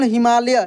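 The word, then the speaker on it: Himalaya: हिमालय कैसे पढ़ते हम हिमालय य य पूरा यहां पर प्रोनाउंस हो रहा है इसलिए यहां पे वाई के बाद वाई के बाद ए लगाते हैं हम लोग लास्ट में अब आप बोलेंगे कि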